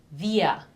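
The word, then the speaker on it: wir: plural which would be via in English we the W in English is pronounced with the teeth on the lips via and here again the r is not or it's via the second one I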